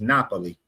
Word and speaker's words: Napoli: Just like we say Naples, you go over there is Napoli.